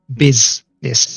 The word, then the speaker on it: business: the first I mean how do you normally pronounce use in English it's like a u sound right or a in business it's an i sound it's like I Bizness I sound so in Walsh the U